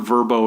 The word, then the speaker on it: VRBO: all kinds of languages the word verbo is easy to pronounce as opposed to trying to pronounce the letters and in an English or Western way smart move and you'll